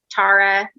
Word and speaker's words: Tara: fine with either um tara is uh the way that it's pronounced in ireland uh my dad was